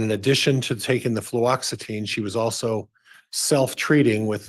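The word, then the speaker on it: fluoxetine: flutin I have difficulty with that as well fluoxitine fluoxitine thank you yes I'll say it wrong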